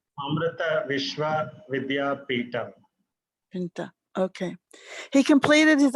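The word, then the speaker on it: Amrita Vishwa Vidyapeetham: Could you please pronounce the name of your university so that it's correct? It's Amrita Vishwa Vidyapithan.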